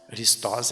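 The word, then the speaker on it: Χριστός: Christos é a pronúncia correta, esta palavra aqui, ó, Christos. Tem um acento agudo aí no O.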